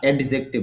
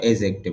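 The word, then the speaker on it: adjective: Noun N মানে noun, A ডি জে এজেক্টিভ বা অ্যাডজেক্টিভ বলে, তবে শুদ্ধ উচ্চারণ হবে এজেক্টিভ, কারণ ডি জে একসাথে থাকলে ডি এর উচ্চারণ হয় না।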